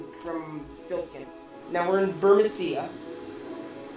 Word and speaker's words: Burmecia: from now we're in Borussia which I guess is how you pronounce it and it's not burmecia fit a little Al's